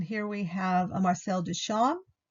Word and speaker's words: Duchamp: And here we have a Marcel Duchamp. The P is not pronounced.